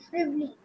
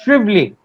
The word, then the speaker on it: Shivali: Shivali, am I getting your pronunciation right? Actually, sir, it's Shrively. It is silent. Shrively. Shrively. The A has been added for good luck in between, right?